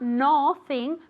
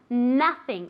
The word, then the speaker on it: nothing: will happen very good how is that o pronounced of nothing nothing yeah how do we pronounce it like an o no no no no like an a exactly as if it were written with an a sound okay nothing okay not nor thing but nothing imagine it were written